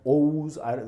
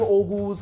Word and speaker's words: Oghuz: I've heard it pronounced Oghuz. You don't pronounce the G, whatever. Oghuz.